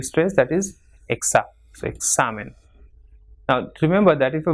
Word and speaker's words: examen: Same, following the same rule, it is comida and examen. So it has got 2 syllables, examen. So the second last will be stressed, that is exa. So examen.